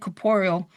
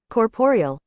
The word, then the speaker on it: corporeal: we know because we said caporeal. But you know what? Let's let's see how to say it. Let's use this little definitioning. I'd say pronunciation pronunciation. Let's get it right. Corporeal. Caporeal. Caporeal. So I was right.